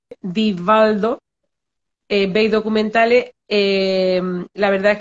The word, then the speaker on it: Divaldo: yo lo repito mucho se pronuncia vivaldo con d la primera con d la segunda con v divaldo vei documentales la verdad